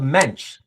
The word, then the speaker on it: Moench: And by the way, I have it on good authority that it's Doug Mench.